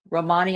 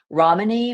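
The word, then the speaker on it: Ramini: Romani, I think is how it's pronounced. R A M I N I. Romany, maybe.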